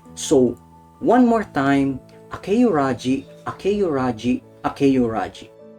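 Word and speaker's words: 明浦路: So, here's Tsukasa Sensei's last name in Romanji. All you have to do is pretend, emphasis on pretend, that there's a letter Y in between the E and U. So you pronounce it as Akeyuraji, Akeyuraji, Akeyuraji.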